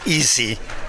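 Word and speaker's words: AESI: We use EASY, although it's not really an easy project, but that's the way the letters worked out, so we're stuck with it.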